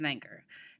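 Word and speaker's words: Wegener: to talk about alfred wenger now he's actually german so that's how you pronounce his name he lived from 1880 to 1930.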